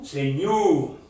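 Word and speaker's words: segnô: Però, segnu, la pronuncerò U perché c'è il circonflesso, e il circonflesso se lo devo mettere perché manca la desinenza finale.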